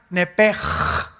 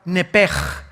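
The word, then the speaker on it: נפש: Entonces se pronuncia nepj.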